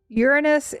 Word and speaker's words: Uranus: Uranus is the um one preferred by astronomers and the stress is placed on the first syllable.